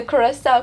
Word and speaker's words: Coração: cool also um patch on my shoulder I pronounce the Curacao correctly yay um celebrating little wins small wins